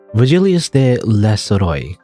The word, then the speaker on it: Virgilius: tell me your name virgilius virgilius is how you say that regelius Virgil is a